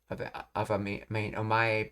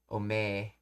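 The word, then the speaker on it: お前: So that's right, this is omae, but it's being pronounced in a masculine, rough way of omoe. Omae being pronounced as ome. So omae becomes ome.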